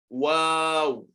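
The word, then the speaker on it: واو: This letter belongs to the lips. This and this and this. The letter ba, the letter fa, and the letter wow. So if you say wow, pronounce it Wow. and check the condition of your lips. Wow. Wow. It doesn't have to do with your tongue. You can pronounce wow without your tongue.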